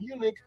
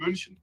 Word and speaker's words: München: I'm not in Munich, but in München.